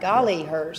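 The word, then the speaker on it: Golliher: r okay golly hers a is that right golly hers yep that's right that's how you had to remember golly hers pretty close where where all can people see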